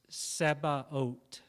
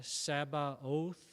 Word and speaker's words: Sabaoth: It's Sebaot. So it looks like it's pronounced it looks like we would pronounce it almost like Sabbath or Sabaoth, but the Hebrew word,